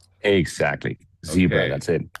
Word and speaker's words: ZCEBRA: Today we have a special guest from I hope I pronounce it correctly, Zebra. Exactly. Zebra.